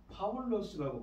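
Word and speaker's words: Παῦλος: 사도의 이름인 바울 그러니까 헬라어로는 파울로스라고 발음하는이 바울이 1절을 맨 앞에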